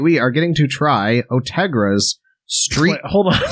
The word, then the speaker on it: Ortega: It's Ortega, not Ortegra.